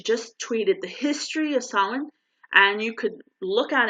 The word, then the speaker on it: Samhain: They call it Samhain. It's spelled Samhin.